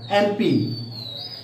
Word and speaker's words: MP: Here MLA, when we pronounce MLA, it is also a vowel sound, therefore we use an.